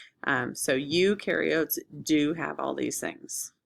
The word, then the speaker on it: eukaryotes: So you can remember eu rhymes with do. So eukaryotes do have all these things.